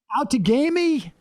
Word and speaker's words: Outagamie: And Tom, you're going to have to help me with the pronunciation. Try it. Outagamie?